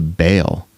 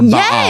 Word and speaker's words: Baal: No, but the implication is here that it is written Adventist ministry worships Baal, or Baal is how it's pronounced, but Baal.